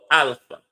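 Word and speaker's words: Alfaa: The singer is called Alpha, but his Alpha is spelled differently from how Alpha would be spelled. The music is on Spotify. His Alpha is spelled A-L-F-A-A.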